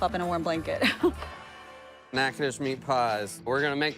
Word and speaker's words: Natchitoches: Natchitoches meat pies. We're gonna make the filling. Why are we calling it that? Natchitoches is a town in north central Louisiana.